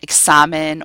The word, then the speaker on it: examen: The X is usually pronounced like in English, X, like a KS together. So for example, an examen or taxi.